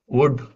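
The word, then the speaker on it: would: அதுபோல சுட் வுட் walk இதுல வந்து எல் சைலெண்டா இருக்கும்.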